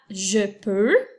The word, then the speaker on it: je peux: le verbe pouvoir et ça s'écrit jpeux espace puis eu une x donc comme avec tout à l'heure avec je veux ici je peux ça se termine aussi avec un ex muet tu peux utiliser je